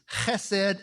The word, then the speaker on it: chesed: It's chesed and emet.